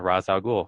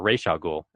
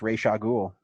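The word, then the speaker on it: Ra's al Ghul: and he's famously responsible for creating uh Razul or Ray Sha Ghoul as he uh confessed that's actually how it's pronounced.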